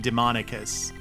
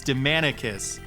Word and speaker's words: Demandicus: name wasn't demonicus so most of the voice actors pronounce his name demonicus but it's demandicus yeah as far as